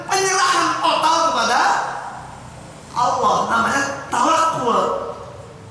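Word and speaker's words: تَوَكُّل: Tetapi ini diimbangkan antara kasar, antara ikhtiar dengan penyerahan total kepada Allah, namanya tawakul. Kita menyebutnya tawakal, padahal kalau diikuti bacanya tawakulan, tawakul kan, tafa'ala ya tafa'ulan, tawakul.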